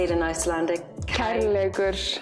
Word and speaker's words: Kærleikur: Kærleikur. Kærleikur.